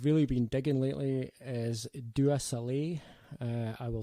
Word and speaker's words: Dua Saleh: Another artist I've really been digging lately is Dua Saleh. I will spell that.